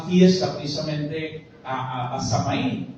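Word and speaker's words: Samhain: precisamente a a a samaín o sahí como se le pronunciaba y era precisamente el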